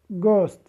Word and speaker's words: ghost: يعني مثال عندنا هون تلفظ مثل كلمة great، كلمة ghost. في المثال اجانا حرف جي وبعده اتش، هون الجي لفظناه ج.